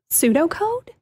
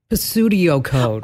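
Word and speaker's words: pseudocode: o c o d pseudo code yes Pudo code but some people I've heard them pronounce it like Pudo code oh PS is is never P never ever ever it's like pstudio I'm like what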